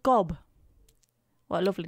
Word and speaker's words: Gob: it is it not job i mean it's spelled g-o-b it says gob to me if you want to be pedantic and say job it should be an e on the end of that it's just i'm just